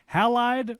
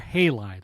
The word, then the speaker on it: Halide: But Halide or Halide, how do you say it? Funny story. Halide's like based on halogens, and you'll hear it either way.